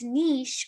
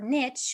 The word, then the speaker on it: niche: having like a select Niche or Niche it's pronounced both ways in case you're wondering